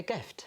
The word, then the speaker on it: Gift: It's exactly the way it's pronounced as well.